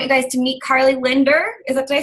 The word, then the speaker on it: Lindor: I want you guys to meet Karli Lindor. Did I say it right? It's Lindor like the chocolate.